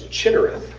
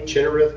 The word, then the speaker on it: Chinnereth: One of them is Chinnereth. So it's spelled C-H-I and then two N's.